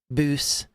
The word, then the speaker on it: bws: Welsh is pronouncing things with the w being an ooh sound typically boo makes sense you would